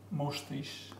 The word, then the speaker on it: mustache: However, there are quite a few words with the ch spelling that are pronounced as sh, chef. Pronounced sh. Sh, chef, machine, mustache.